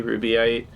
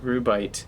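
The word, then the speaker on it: Rubyte: just to match sounds people say rubyite stereotype safarite light they all have three syllables but it is it's just rubite that's so interesting wow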